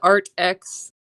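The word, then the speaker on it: AATX: And I've heard that the um art, it's spelled like art with two A's. A A T X. I've heard the Art X pastels are even better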